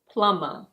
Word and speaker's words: plumber: In British English this is: plumber.